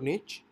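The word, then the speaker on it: niche: भी चेक करनी है निश मींस आप इसको इस तरह से प्रोनाउंस कर सकते हैं निश और निच और इसका जो बेसिकली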